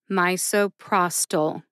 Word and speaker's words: misoprostol: drug name as well my and Pros get the emphasis Pros gets the most emphasis see if you can hear it when I say it slowly my so prostol mysoprostol how did I